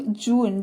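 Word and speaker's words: June: उसको जून बोलते हैं इसमें भी ई जो है साइलेंट है क्योंकि ई का कोई मतलब नहीं है जे यू एन तो जे से ज हो गया यू में लगा हुआ है उ की मात्रा एन से न जून हो गया ई तो यहां पर साइलेंट ही है लेकिन एन जो है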